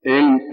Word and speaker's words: ऐं: उच्चारण पहले समझ लें, पहले मैं समझाऊंगा फिर मंत्र दूंगा। श्रीम, ठीक है, इसमें मैं श्रीम ह्रीम क्लीम एंग, यहाँ ग है, बाकी म आया था। वज्र वैरोचनीय हुम हुम फट स्वाहा, अब हुम इसमें म आया है और श्रीम रीम क्लीम इसमें म आया, केवल एक जगह ग आया है एंग, ठीक है, उच्चारण सुन गया। एंग एम नहीं बोल सकते, एंग।